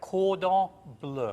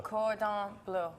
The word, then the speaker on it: cordon bleu: exquisite and of course you got French language so you have to say it correctly so cord or blue cordon bleu mm-hmm dad get there